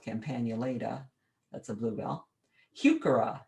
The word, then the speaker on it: Heuchera: campagnulida that's a bluebell heuchera named for a man by the name of hucker some people say huchara but there is no